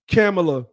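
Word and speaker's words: Kamala: opened up with this the reason why I started pronouncing her name as camela because I looked up how her name was said and I even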